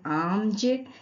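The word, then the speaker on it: alms: आर्म्स, यहाँ भी एल के बाद एम है इसीलिए एल यहाँ भी साइलेंट है और इसे हम पढ़ेंगे आर्म्स।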